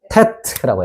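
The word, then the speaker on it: טית: 아홉 번째는 테트라고 해요.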